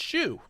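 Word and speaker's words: Xiu: which her name is shu x i you pronounced shu so if you're following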